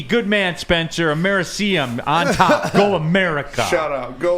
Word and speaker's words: americium: Americanium, or however you pronounce it, number 1. I like it. That's my top 5. Americium.